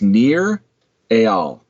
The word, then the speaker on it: Nir Eyal: His name is Nir Eyal. His first name is spelled Nir.